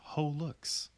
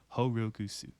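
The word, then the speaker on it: holoX: that Wiki according to Omega Hollow X is pronounced whole looks however this is technically incorrect it is pronounced of a Japanese inflection horukusu as a reference to holla X being the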